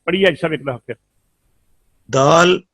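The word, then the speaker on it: دال: Dal, pronounced as dal, start using tip of tongue touching gum of front two teeth.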